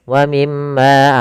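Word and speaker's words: وَمِمَّا: Kebanyakan kita adalah tidak menahannya. Misalkan wamimma harusnya tahan dulu wim ma gunahnya.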